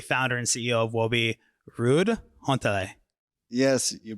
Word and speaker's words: Ruud Hontele: And my guest is the founder and CEO of Woby, Ruud Hontele. Yes, you pronounce it well.